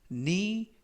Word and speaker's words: knee: the knee joint, 이때 knee 하면 무릎이라는 명사가 되겠고요. 앞에 있는 K는 묵음이라서 발음이 되지 않습니다.